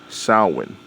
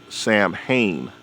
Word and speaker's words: Samhain: And the reason why I say that is because it's around the same time as so-called Halloween, aka Samhain. Although it looks like it's pronounced Samhain, but it's really Samhain, right?